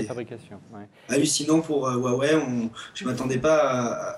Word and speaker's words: Huawei: Ils l'ont prononcé Huawei.